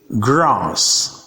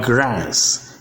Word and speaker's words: grass: And the word grass is British pronunciation, while grass is American pronunciation, and so on.